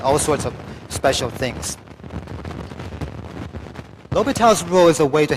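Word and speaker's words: L'Hôpital: Okay, so this S right here, in this word L'Hopital, it's a French name. This S is silent. Okay, just pretend that S is not there in L'Hopital.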